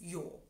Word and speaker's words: jo: For example, in German, yes is ja, and in Styria is jo.